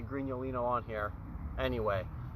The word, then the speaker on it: Grignolino: I don't know, because it doesn't even say Grignolino on here. Anyway, there's two G's in it. It's that G-N-O, Grignolino, that I guess it's hard for Americans to pronounce.